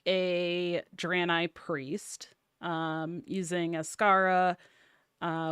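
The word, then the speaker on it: Draenei: side note but talking about drani it is pronounced drani and if anybody has questions on how to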